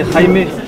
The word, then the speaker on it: Jaime: C'est Jaime, ça s'écrit j'aime, sans accent.